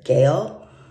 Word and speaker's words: Gael: name is um it's hard for me to pronounce but it's Gail g-a-e-l Montero so he is it's just Divine